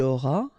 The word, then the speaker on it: auras: Final S not pronounced.